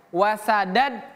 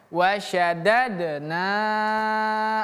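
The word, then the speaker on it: وَشَدَدْنَا: Huruf syin itu pemirsa bukan seperti sin. Wasadad salah. Tapi wasya wasya wasadadnahum syin ya sya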